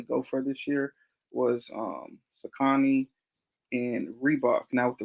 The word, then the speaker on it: Saucony: You pronounce it Sakani? Saucony, however you say. I, Every episode I talk about, I always say it the opposite I way. say it's Saucony. I've been saying that ever since I was a kid.